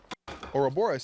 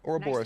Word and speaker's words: Ouroboros: Ouroboros. See, I knew I said it right. Ouroboros. Nice to meet you, Loki. Nice to meet you, bud. Ouroboros. I just didn't pronounce the S at the end.